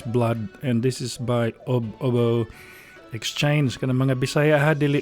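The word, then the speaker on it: Ubbo Exchange: So it's spelled UB and then UBBO. And it's pronounced Obo Exchange.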